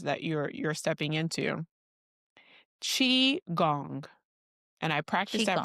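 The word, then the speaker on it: qigong: Chi gong. And I practice that pronunciation. So don't worry. It's not kiong. It's not kiong. It's chi gong.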